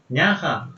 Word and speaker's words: näha: паремини няха Во. мулапс. Мурапс. Ну и няха, ха в эстонском языке очень такое Ну, нежное, плохо слышанное.